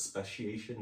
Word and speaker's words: Speciation: Speciation Artisan Ales, Speciation Cellars.